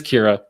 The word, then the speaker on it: Kyrah: last show but then i looked it up and i and i've got it and happens to be my my niece's name is kira just spelled differently and so i was even more mortified because i i pronounced it but it is kira and so my um